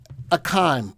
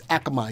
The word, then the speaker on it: Akamai: to the three-month graph akaim uh it's not a game isn't that a game company akamai it is i think it is i think it's akamai you're not saying it right learn sound it out use your letters all right akamai huh all right akamai a little